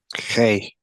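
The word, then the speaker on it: ה: llama la letra He se llama he he sí Entonces qué sonido tiene tiene el sonido de la letra He he he sí bien es una e abierta es una e abierta Por eso es que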